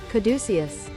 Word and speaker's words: caduceus: Uh I'm sure I'm saying caduceus wrong. Caduceus? Google, help. Let's use the Google Wikipedia real fast. Let's go back to Google and try just putting pronunciation in. Caduceus. Oh, no. I was saying it right.